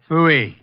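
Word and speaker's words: Pfui: Fooey. It can be spelled in several ways. I spell it P-F-U-I. Fooey.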